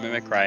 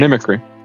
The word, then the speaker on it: mimicry: I don't know why I've never I've always called it mimic cry and I was like that's when you said I was like mimicry. I was like god damn. That actually is how you say it.